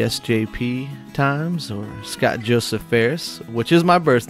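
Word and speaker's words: Phares: time as the SJP times, or Scott Joseph Ferris, which is my birth name. My birth name is Scott Joseph Ferris, which my last name is spelled P-H-A-R-E-S. Commonly mispronounced as, Fars, Pijeres, and all sorts of different things.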